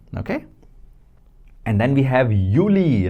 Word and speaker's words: Juli: And then we have Yuli, right? Because that is uni. This is Yuli. Yuli. U E. And this is Y. Yuli. Do J but pronounced as Y.